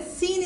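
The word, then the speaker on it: س: And when tip of the tongue touch the root of the lower front teeth with a little gapping, then seen is pronounced.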